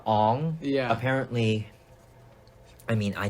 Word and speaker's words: Aang: It was like Aang. Aang to Ong.